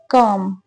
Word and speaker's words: calm: काम, CALM। इसमें एल जो होता है वो साइलेंट होता है। तो ये क्या बनता है ये वर्ड? काम।